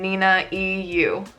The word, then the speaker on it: ninaeyu: How do I pronounce my username ninaeyu?